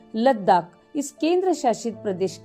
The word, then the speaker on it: लद्दाख: तिब्बत की कई बोलियों में इसका उच्चारण लद्दाख हुआ है।